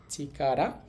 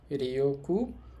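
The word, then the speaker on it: 力: এই কাঞ্জিটার কুনিয়মী জাপানি উচ্চারণ হবে চিকারা। আর অনিয়মী মানে চীনা উচ্চারণ হবে রেকু এবং হচ্ছে ঋকি দুইটাই হইতে পারে।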